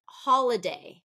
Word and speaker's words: holiday: all right next one holiday holiday that one is first syllable stress okay if I did